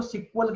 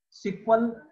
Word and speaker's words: SQL: Starting में इसको सिक्वल कहते थे, सिक्वल यानी कि एसक्यूएल, सिक्वल आप इसको अगर प्रोनाउंसिएट करोगे तो सिक्वल होगा। और जब भी आप किसी डेवलपर वगैरह से मिलोगे, जो कि खासकर पुराने डेवलपर हैं, वो हमेशा एसक्यूएल को सिक्वल ही बोलते हैं, क्योंकि बोलने में ज्यादा आसान है।